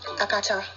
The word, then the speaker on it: Akata: First of all, let's talk about the pronunciation of the word. It's Akata, not Akata, or Akata, okay, I'm being ridiculous now. It's Akata, put some accent into it.